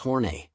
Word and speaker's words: Horn: Another of his characters, Tyrone F. Horn, pronounced Horne, was a creepy old man who spent every episode unsuccessfully flirting with Ruth Buzzi's character, Gladys Ormphby.